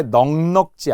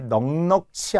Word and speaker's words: 넉넉지: 자, 그리고 우리 기출 문제 넉넉지 않아요. 놀랍게도 많은 사람들이 넉넉치 않다고 해요. 살림이 넉넉치 않다. 절대 안 돼요. 넉넉지.